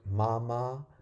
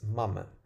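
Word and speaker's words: මම: It's not mama. It's mama. Okay? Because if you say mama, it means uncle. So it's not mama. I didn't put any accent on the pronunciation. Um just mama. Mama.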